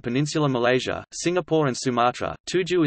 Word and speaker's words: tujuh: Tuju is pronounced and was spelt Tujo, Pili as Pila, etc.,